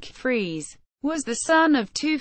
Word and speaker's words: Freas: Hornell New York priya's pronounced like Freese was the son of